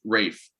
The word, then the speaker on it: Ralph: career steven it's he it's pronounced it's pronounced rafe it's great fine well